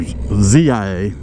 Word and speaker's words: Zia: It's actually K-I-A or Z-I-A, pronounced like Kia, but it's Zia, but it goes by Z.